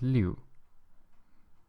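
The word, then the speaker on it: 六: are quite simple to write and six is pronounced as Li Li and I am going to go on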